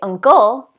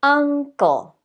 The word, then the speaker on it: uncle: We don't say uncle, we say uncle.